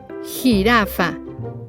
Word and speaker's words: jirafa: Geometría, jirafa. There is no U in between, so you pronounce it like an H in English.